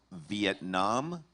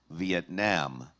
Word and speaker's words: Vietnam: You probably know what that is, but the word is Vietnam, Vietnam, Vietnam, Vietnam. Can you repronounce the word?